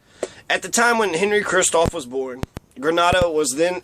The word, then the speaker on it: Christophe: So, Henri Christophe, pronounced Christophe, was destined to be a great man.